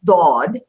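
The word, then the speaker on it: ضاد: Something that's interesting about this letter, Dod is the sound as it's made in the Arabic language is unique to the Arabic language. It's the only language in the world that pronounces this particular letter, Dod.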